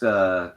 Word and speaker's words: Brack: It's pronounced Brock.